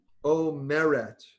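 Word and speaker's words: אומרת: Omeret, accent on the second to last syllable.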